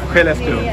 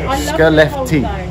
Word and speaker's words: Skellefteå: Skellefteå. It's spelled SK. In English, that's SK. Skellefteå.